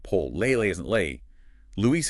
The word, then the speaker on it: Luis: Luis is 2 syllables, not English Louis with a schwa.